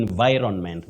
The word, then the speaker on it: environment: okay Environ environment yeah the N is pronounced okay environment such a